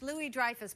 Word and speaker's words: Louis-Dreyfus: No, it's actually French, Louis-Dreyfus.